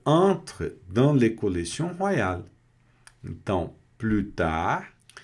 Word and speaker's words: plus tard: Então, plutar. E observem aqui que esse plutar eu não pronunciei o S, porque esse S aqui ele não dá a ideia de aumentar a quantidade, tá?